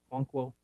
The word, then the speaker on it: Okonkwo: How do you pronounce his last name? Okonkwo.